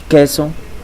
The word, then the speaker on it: queso: In Spanish, the U sound is not pronounced. Let's take a look at some examples: queso and quijada.